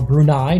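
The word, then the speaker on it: Brunei: Afghanistan against brune or brunai depending on how you want to pronounce it but here on marel fubo we're going to pronounce it brune they're in the yellow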